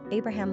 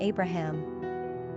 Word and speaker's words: Abraham: Quick facts on Abraham. Gender, boy. Origin, Hebrew. Number of syllables, 3. Ranking popularity, 183. Pronunciation, AY-brä-ham. Simple meaning, father of a multitude of nations. Characteristics of Abraham.